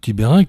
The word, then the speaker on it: Tibayrenc: On devrait dire Tiberank, mais théoriquement Tiberank, en fonction de la région dont je suis originaire.